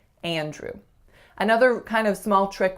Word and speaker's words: Andrew: Andrew. So as I'm saying the name, you can hear that I'm nasalizing that first a sound.